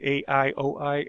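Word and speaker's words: Aioi: of the aoe bridge i believe you pronounce it a ioi aoe bridge is about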